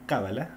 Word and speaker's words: cábala: La cábala, ahí está con el acento en la cábala, servía de fundamento para la astrología, la nigromancia, así está escrito, nigromancia, y demás ciencias ocultas.